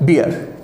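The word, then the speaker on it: bear: ये जो वर्ड है इसका प्रोनाउंसिएशन अलग होता है, बेयर। ये क्या है, बेयर। ये क्या है, बियर। ये इस तरीके से स्टार्ट होता है, बियर, और ये कैसे स्टार्ट होता है, बेयर।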